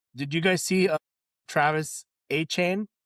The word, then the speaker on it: Travis Etienne: did you guys see Travis A-Chain? It's not ETN, it's A-Chain.